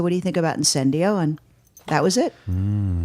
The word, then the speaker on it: incendio: and then he said and then he said in sin do and I was like oh that's a good